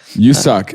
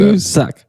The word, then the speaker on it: Woo-suk: You suck is how you pronounce it. You suck. Yeah, it's WOOSUK. Okay. But I'm like 99% sure it's not Woo. It's you.